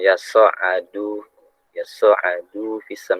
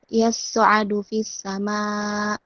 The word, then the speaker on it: يصعد: يصعد في السماء Dalnya dicepetin. Jangan yas'adu fisam. Jadi seakan-akan panjang bacanya. Pendek. Du-nya dalnya pendek. Yas'adu fis sama. Tekan ainnya. Yas'adu fis sama. Ditekan pakai tasdid ainnya.